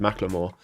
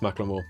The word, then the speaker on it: Macklemore: And I saw that some people already said Macklemore, which I found out recently is how you pronounce it, and it's not Macklemore, it's Macklemore.